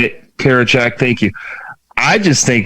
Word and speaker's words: Karinchak: Karinchak. How do you say it? Karinchak, thank you.